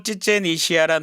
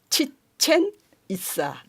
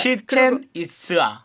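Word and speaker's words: 치첸이트사: 이시아가 아니고 이사예요. 이사? 치첸 이사. 치첸 이사. 이게 무슨 마야 말이에요? 마야 언어예요? 말이에요. 어이구. 발음이 굉장히 어렵죠. 상당히 어렵습니다. 왜냐하면 예. 스페인어도 그렇지만은 네네. 격음이 없고 전부 다 경음으로 돼요. 그러니까 이치아가 아니고 이스아거든요.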